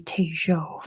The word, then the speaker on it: Tejo: bunkers that is true t-e-j-o I believe it's pronounced Tayo it's in Colombia very good Dr the answer is Colombia I'm sure if it would be in Spain it would be taejo but I believe in